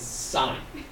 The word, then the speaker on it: sine: Sine. Pronounce. It's not a 9-inch nail song. It's sine.